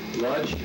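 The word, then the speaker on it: Łódź: Lodz? How do you spell it? L-O-D-Z.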